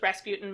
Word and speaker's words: Rasputin: saw this movie but I grew up on that song where they pronounce it raspoutine so I thought his name was raspoutine for like 20 years and then I was like Rasputin well then that changes